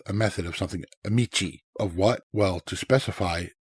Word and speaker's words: 道: Michi is more complex. And this is um this is uh better known with a compound and in compounds it's often pronounced do, but it is more